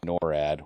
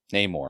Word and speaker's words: Namor: I want to say NORAD. What is his name? Namor.